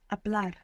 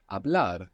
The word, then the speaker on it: hablar: It begins with a silent H. Hablar. Hablar.